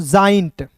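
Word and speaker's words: giant: आई जाई, और एन टी इसे पढ़ेंगे दोस्तों जाइंट।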